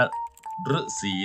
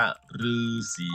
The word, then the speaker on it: ฤๅษี: หนึ่ง เขา เรียก ว่า ฤๅษี พระ ฤๅษี ดี รู้ จัก ดี ลูก อ่า คือ สี เม็ด ไม่ ได้ อ่าน ว่า ฤษี นะ ลูก อ่าน ว่า ฤาษี เพราะ บ้า เป็น ตัว